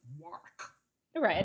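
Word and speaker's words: Warwick: this is the problem it's written Warick it's pronounced War right it's as the English do so I will probably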